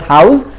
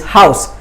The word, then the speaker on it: house: It's not house, it's house. Sa sound, sa, not the za.